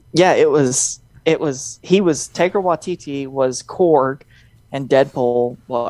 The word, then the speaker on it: Taika Waititi: Taika Waititi Yeah.